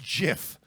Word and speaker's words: GIF: emojy first of all it's pronounced JF and I won't have I will not be corrected on this that's the real thing